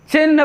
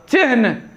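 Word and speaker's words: चिह्न: चिन्ह पढ़ते हैं, ये लिखा भी जाता है गलत और उच्चारण भी इसका गलत होता है। अच्छे अच्छे लोग इसका जो है, पढ़े लिखे लोग उच्चारण इसका गलत करते हैं, लिखते भी हैं गलत। तो चिन्ह नहीं होगा, चिन्ह।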